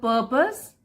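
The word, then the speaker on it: purpose: हैं उसको और बढ़ाएं द पर्पस कैसे पढ़ेंगे परपस आर साइलेंट होता है द पर्पस ऑफ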